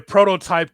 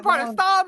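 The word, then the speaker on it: Protostar: The the prototype Kyle Fletcher, our TNT champion, as Fletcher will take on Hangman Paige for the AW Championship.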